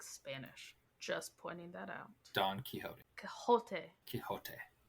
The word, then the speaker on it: Quixote: just pointing that out Don kote kot kote it's Spanish it is a Spanish author right I I know but it's a Spanish name therefore you should pronounce it the Spanish way it's span it's the